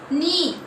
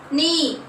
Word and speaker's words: knee: Knee. What is the silent letter? Yes, very good. K is silent. Without K also we will read knee. Yes or no? K is a silent letter.